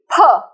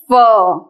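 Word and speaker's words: फ: So this will be pa. Don't ever call it fa. Please pronounce it properly by P-H-A. Pa. That's a true Sanskrit student.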